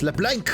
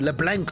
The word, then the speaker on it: Leblanc: It's LeBlanc. You mean he'd have to meet her in person? You gotta say it like that too, LeBlanc.